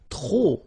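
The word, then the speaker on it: trop: If you want to use tro and tro means too many okay then you will have to put the and the noun without the article. Okay remember too many don't pronounce the final pay to the and the noun without the article.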